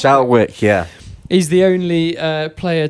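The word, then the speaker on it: Schalkwyk: It's Shadley Van Shalwick. Shalwick, yeah.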